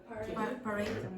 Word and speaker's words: parade: Parade. Parade. So the first syllable is not strong, so you say p. You don't say pa. Parade.